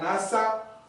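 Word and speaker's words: נשא: y se y se pronuncia NASA fonéticamente, o sea, así como se se escribe, así NASA. Amén. Así se se pronuncia, que significa levantar y llevar cuando perdonas. Hay una clase de perdón llamado NASA. Aleluya. Amén. Gloria a Dios. Tiene acento al final.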